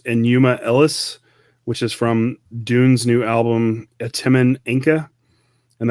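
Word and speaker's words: DVNE: Ellis, which is from Dune's new album Atimen Inca, and that's spelled D-V-N-E. I did not know it was pronounced Dune. I was like, is it divine?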